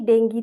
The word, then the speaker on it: ডেঙ্গি: নাম শুনেছো ডেঙ্গু বা ডেঙ্গি নামেই চেনো কিন্তু সাধারণত এটাকে ডেঙ্গি উচ্চারণেই করা হয় মানে এটা সঠিক উচ্চারণ ধরা হয় তার এই যে ডেঙ্গি